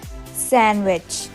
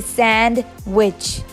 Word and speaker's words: sandwich: is most commonly misspelled it's sandwich sandwich we usually say Sand Witch we say it's sand and it's Rich so we both say sandwich no it's sandwiched tea is solid in